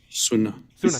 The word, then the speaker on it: Sunnah: Did I say it right? Is it Sunnah or Sunnah? Sunnah. Thank you.